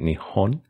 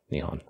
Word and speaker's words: 日本: Presumably this is done because Nippon has the ring of being a more classic and older pronunciation of Nihon.